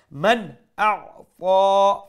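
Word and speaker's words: من أعطى: throat letters has appeared, so we'll pronounce the nun sakin with clarity, with izhar. Man a'ta, fa is a full mouth letter, and plus we stretch it one alif long.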